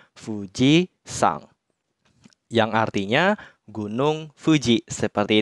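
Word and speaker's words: 富士山: bersama nama gunung tersebut contohnya di sini Fuji maka kanji gunungnya akan dibaca sang jadinya Fuji sang yang artinya Gunung Fuji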